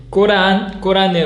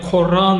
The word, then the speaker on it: 꾸란: 꼬란이 이제 영어 발음을 하면 코란 뭐 이러는데 이제 코란이라는 보다 최대한 아랍어 발음에 가깝게 한국어로 하면 꼬란, 이제 아랍어로 하면 알꼬란 이렇게 하는데요.